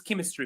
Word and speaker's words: chemistry: others uh One is chemistry for example. Chemistry uh mechanic of course you can share with me other words if you know them that have ch pronounced as c sound in English.